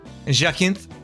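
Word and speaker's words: Jacinthe: Le Jacinth Jacintthi. Is it Jacinth or Jacenti? I I'm just going to say Jacint. I think the E is silent.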